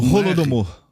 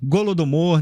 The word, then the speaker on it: Holodomor: A pronúncia é com Holodomor. Holodomor. Se escreve com H. Em ucraniano fala Golodomor, né?